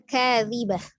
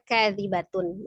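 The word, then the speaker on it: كاذبة: Jadi bacanya kadzibah ya, tapi ketika dia dilanjut maka kadzibatun menjadi huruf ta. Ketika dia berhenti atau diwakafkan maka menjadi huruf ha ya.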